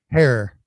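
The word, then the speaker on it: Herer: today paul stanford jack herrer hair rhymes with hair right jack here uh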